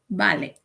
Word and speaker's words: ballet: Ballet is the correct pronunciation.